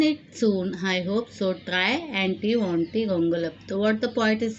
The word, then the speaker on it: Triantiwontigongolope: Try Anti Wanty Gongolap.